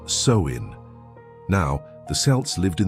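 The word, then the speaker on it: Samhain: The roots of Halloween can be traced back over 2,000 years to the ancient Celtic festival known as Samhine, pronounced soin.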